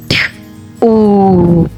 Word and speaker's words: two: w w one and other tricky word here W is silent and O is giving oo sound so we read it like this t o to three s r e